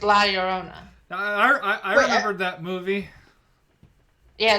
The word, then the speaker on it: Llorona: But I say it's like in Spanish, when there are 2 double L's, it's like a Y.